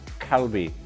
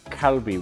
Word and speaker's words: Kalbi: They told me there's no good pronunciation for an L or an R, so it's somewhere in between, so it sounds more like Kalbi, Kalbi, with a little bit of R to it.